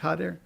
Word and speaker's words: Jader: You think it's an H, a soft H? Jader. That's what the team's pronunciation guide said, yeah.